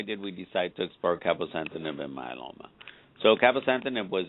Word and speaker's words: cabozantinib: It's called cabozantinib.